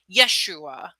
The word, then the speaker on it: Yeshua: Not only did I know that, but there's actually, if you look at the Aramaic pronunciation of Joshua, they didn't have a J in their language, so it was pronounced more like Yeshua.